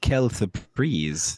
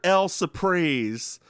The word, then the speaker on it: quelle surprise: No, I said quelle surprise. Oh, I heard L surprise. Oh, no. Like surprise. Quelle surprise. Like French. Like, what a surprise. That's how you say it in French.